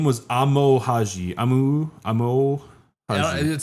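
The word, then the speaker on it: Amou Haji: Amo Haji. It sounds perfect. You were pronouncing it perfectly.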